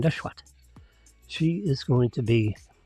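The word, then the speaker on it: Nesheiwat: That's how she pronounces her name, Neshwat.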